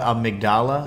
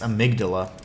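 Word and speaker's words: amygdala: um I I know that they call it a migdala I mean a migdala is um a much more beautiful way to pronounce it and that's the way patches pronounces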